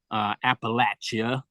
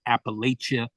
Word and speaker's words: Appalachia: this who are from Appalachia, and there's this that some of you may not know, but there's this kind of internal friction about whether you pronounce it Appalachia or Appalachia.